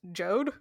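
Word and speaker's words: Jeod: b-or but we also have j-e-o-d which is pronounced jode like i feel like it should either be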